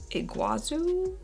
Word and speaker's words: Iguazu: matte complete foundation okay people said that it's iguazu that's how you say this watch someone say i'm